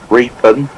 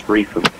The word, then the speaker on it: Reepham: It's not Reepham, because because we're Norfolk, you pronounce the P as an F, so it's Reepham. Okay, Reepham.